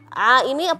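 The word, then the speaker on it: عين: Sama yang terakhir buat Kaisa adalah pelafalan harfal ain. Ain itu Kak Irfan a, bukan o. Kalau o beda suaranya. A.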